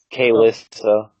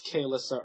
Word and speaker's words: Kaylissa: Kaylissa Urkwell. Urkwell, yeah. Spell it whatever you want it. I spelled it like Alyssa with a K. It's Shaqualissa. Shalissa. It's Kaylissa Urkwell, but yes.